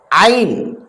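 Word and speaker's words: ع: அந்த எழுத்துதான் என்னது ஐன் ஐன் நடுத்தொண்டையால சொல்லணும் இந்த எழுத்தை ஐன் ஐன் ஐன் ஐன்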